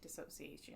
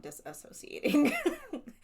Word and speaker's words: dissociation: and disassociation or dissociation how do you say that word dissociating yeah so dissociation yeah not disassociating she's not not associating with them anymore not affiliated with